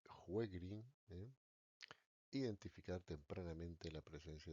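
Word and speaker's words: Sjögren: Pues tres, contribuir al establecimiento del diagnóstico de la enfermedad de Segre. Realmente la pronunciación correcta es enfermedad de juegrín.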